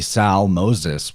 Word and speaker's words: Zalmoxis: His name is Zalmoxis, which is phonetically Sal Moses whenever you look at the Greek letters.